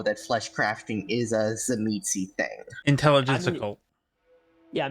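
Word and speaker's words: Tzimisce: Zamitzi, thank you. I forgot how to pronounce it.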